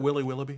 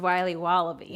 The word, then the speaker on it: Wiley Wallaby: Can I have a piece of that Willy Willoughby? Wally Wibbly. Wiley's Wallabies. Wallaby Wallies. Wilby Wallaby. It's pronounced Wiley Wallaby. Well, it's very good. It's called Wiley Wallaby, and it's delicious.